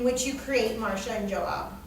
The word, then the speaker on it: Joab: Home doesn't only mean the marital home in which you create Marcia and Joab. Is that how you pronounce his name? Joab. Joab. Yeah.